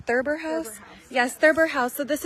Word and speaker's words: Thurber House: It's pronounced Thurber House.